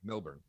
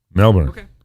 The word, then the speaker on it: Melbourne: little bit weird because i do say melbourne and it says that little teeny tiny r in there milburn melbourne so so according to